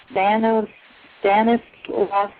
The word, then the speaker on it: Stanislaus: She is currently the Forest Heritage Resource and Tribal Relations Program Manager for the Stanislaus National Forest. Now, how do you say that, Kathy? You said that right, Stanislaus.